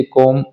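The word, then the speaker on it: comb: जब भी एम के बाद बी लगा हो तो बी की कोई साउंड नहीं आएगी। जैसे कॉम, बी ओ एम B, Baum और प्लम्बर, इसको मोस्टली लोग गलत गलत बोलते हैं।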